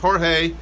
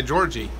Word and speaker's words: Jorge: CU I know um in Spanish it's generally pronounced Jorge but I I had a friend that spelled his name that way and actually went by Georgie so I'm never sure